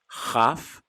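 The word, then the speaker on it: כ: in the center, or if we remove the dagesh, the dot in the center, it's called or pronounced chaf.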